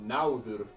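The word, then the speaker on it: Nauðr: than modern English because there's stress on the first syllable in a word. So náður and hagal, you're saying the first part, the first syllable, really strong. You're really stressing it, and then the secondary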